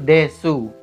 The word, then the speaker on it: desu: misalnya hasnul Des itu tulisannya hasnul desu dibacanya hasnul Des tidak hilang secara penuh tapi jika kita baca secara tipis itu akan terlihat lebih sopan pengucapannya Nah yang kedua adalah